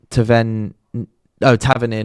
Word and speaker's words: Tavernier: Ian White, I don't know what that was you just said, but his name is pronounced Tavernier, not what you said.